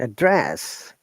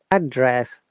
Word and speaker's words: address: We stress on the second part to make it verb.